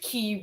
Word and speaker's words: Quay: was probably 19 before I learned it wasn't Quay I was in I was studying in Northern